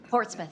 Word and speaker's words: Portsmouth: Did you say Portsmouth? Portsouth.